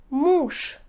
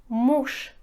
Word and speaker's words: муж: друг друг пишите га говорите к друг друг муж муж пишите же говорите муж муж почему когда в конце слова у нас